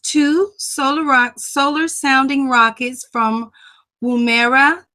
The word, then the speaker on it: Woomera: He launched two solar sounding rockets from Woomera. Did I pronounce that correct, Dr. Strong? Woomera, Boomerang. Woomera, South Australia.